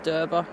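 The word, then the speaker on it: Derby: look inia how to pronounce it is derba oh it's derba yes it is yeah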